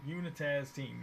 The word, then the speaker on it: Unitaz: Blue team is Unitaz. Let me say it correctly. Unitaz team, yeah. Unitaz, Unitaz.